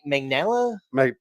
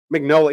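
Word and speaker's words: Mignola: uh is it Mike m m magella uh magnola yeah the way koi said it I've been saying it wrong this whole time um but the creator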